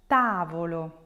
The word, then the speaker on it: tavolo: For examples, words like pallido, tavolo, zucchero. If you break those down, you will notice that the stress will fall on the third to last syllable.